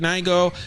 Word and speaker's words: Nigo: Spiel yeah um the Neo jacket Nigo mad people were asking me why I said his name wrong I don't know I've always said Neo um the Neo jacket